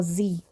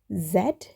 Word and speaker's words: Z: the letter Zed or Z so I've been taught to pronounce it as Zed you can call it Z too so how do you